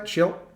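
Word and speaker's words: Shildt: But Schilt, I'm saying it right? Schilt? Schnitt? Schilt. I always feel like I say it wrong. Not Snit. It's not Snit.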